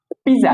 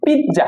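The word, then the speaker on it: pizza: হ্যাঁ, তারপর হচ্ছে পিজা, আমরা বলি এটা পিজা, কারণ এটা হচ্ছে গিয়ে পিৎজা, কারণ ইংলিশ হচ্ছে কি পিৎজা।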